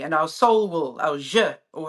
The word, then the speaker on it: zhi: our soul will, our je, or how do you pronounce it, Charlie? How do you spell that? ZHI. Yeah, so ZH sounds like j, like a J.